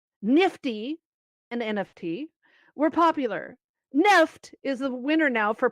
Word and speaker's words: NFT: while according to an article in the verge nft the acronym for non-fungible token believed by many to be a blight on the web and the metaverse is not pronounced nft but nefft did you know that nope what the hell